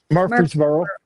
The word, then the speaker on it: Murfreesboro: house Murfrees- I forget the town how to pronounce it, but Murfreesboro.